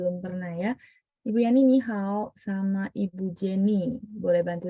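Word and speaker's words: 你好: Ni hao. Ya, ni hao gitu ya. Ni-nya berubah Ni jadi hao. dua ya.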